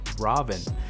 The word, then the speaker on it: Raven: a performer and magician caroline raven actually pronounced robin has dipped her toes